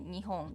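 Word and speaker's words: にほん: When we wanna emphasize more that is Japan, we sometimes use Nippon, but we usually say Nihon, just Nihon. Nippon, it sounds a little like older, like traditional things. But when we encourage sport, how do you say that? In like Olympic or soccer World Cup or something like that, we say like Nippon, Nippon. That's because of rhythm.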